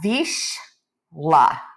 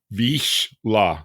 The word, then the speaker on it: Vizsla: And a lot of people don't know how to pronounce it, so we're just going to cover that right now and say please. Yeah, Vizsla. Vizsla.